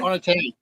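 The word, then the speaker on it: Onetangi: Onotangi. Yeah, I pronounced it right. Onotangi is perfect pronunciation. Exactly right.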